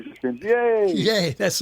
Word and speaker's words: Yeh: are you today good now how do you pronounce your last name it's very easy yay when walking around my B SC yay yay that's not bad okay well this is